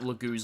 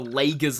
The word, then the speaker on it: Laguz: You have to watch out for that lagoo's lance there or the the leager's lance as I used to pronounce it.